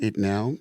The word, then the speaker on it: Etnowe: If you have never experienced it now, it's very possible.